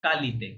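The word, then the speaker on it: qualité: পেন্দ না পন্দ পন্দ পন্দ অয়ালিতে কোয়ালিতে না কালিতে কিউ এর পরে ইউ থাকলে ওটা নরমালি সাইলেন্ট থাকে ওকে কিউ এর পরে থাকলে তাহলে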